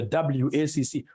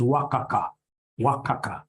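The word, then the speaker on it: WACC: companies you'll get somebody instead of pronouncing this thing professionally as wac you get somebody calling it waka waka no no no no that's very unprofessional it's supposed to be W ACC it's supposed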